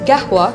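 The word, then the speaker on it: قهوة: symbolic act of generosity arabic coffee pronounced gehua in the emirati arabic dialect has been a central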